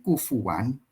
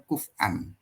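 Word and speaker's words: كُفُوًا: ada Imam qiraat yang membacanya kufuan ada yang membacanya kufan kufuan Ahad ya ada yang kufan Ahad gitu ya kalau misalnya di surah al-ikhlas itu ya Eh ada yang membaca kufuan Ahad ada yang membacanya kufan Ahad itu karena memang Imam qiratnya begitu kalau saya lebih kepada ee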